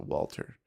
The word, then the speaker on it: Walther: that a thing yep is that waltz or walther i think it's called walter yeah walther yeah i think they pronounce it walter walter pk ppk ppk